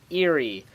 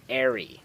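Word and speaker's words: aerie: the airy or possibly eerie. I looked up a lot of different pronunciations for this and I found different pronunciations. However, I do believe the correct pronunciation to be airy.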